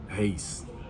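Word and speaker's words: Reis: Is it pronounced Rice or Reese? Hayes.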